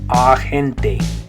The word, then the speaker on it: agente: But in Spanish, that A will make an A sound, agente, agente.